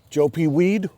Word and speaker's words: Joe Pye weed: Down in here, we've got Joe P weed, or is it Joe Pye weed? How do you pronounce it? Joe Pye weed or Joe P weed? It's Joe, Joepye weed.